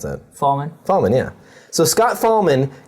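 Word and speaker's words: Fahlman: How do you pronounce that? Fallman?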